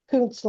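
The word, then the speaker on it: Kountz: Pronounce that. London. Counsel London.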